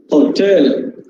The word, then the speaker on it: hotel: in here so here as per the accent stress form here we should pronounce hotel hotel hotel yes hotel this is the last syllable stress okay next next word